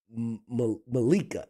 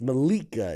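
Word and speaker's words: Mollica: go yes rued and his last name is Malika ma it's Malika it's m o l l i CA can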